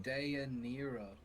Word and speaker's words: Dinara: Dinara what about di is pronounced de Nero towards the end of